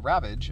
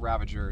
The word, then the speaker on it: Ravage: And today we're going to be transforming Ravage, not Ravager, to any of you all mung nuts out there who think that's pronounced like that.